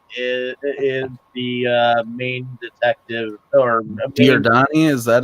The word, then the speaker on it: Giordani: Well, Carlo Giordani is the main detective, or Giordani. Is that how you say it? Giordani, yes. Carlo Giordani is the name of the character of the young newspaper guy.